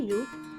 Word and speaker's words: ये: When more than one person और thing is near यू वी यूज़ the word ये इन हिंदी।